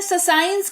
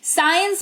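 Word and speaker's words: science: फिर है ससा साइंस। कभी पढ़ा है क्या बचपन में? कभी आपने स्कूल में ससा साइंस पढ़ा है क्या? नहीं पढ़ा। क्या पढ़ा है? साइंस पढ़ा है।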